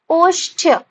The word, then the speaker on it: ओष्ठ्य: म आधा न में त्र, विसर्ग, मंत्र, ठीक है, उसके बाद अष्टय, अष्टय, इसको हम शब्द में देखें तो ओष्ठ्य, ओष्ठ्य, आधा श में ठ, उसके बाद य, ओष्ठ्य, ठीक है, अंध्य, अंध्य, इसका उच्चारण क्या है, अंध्य।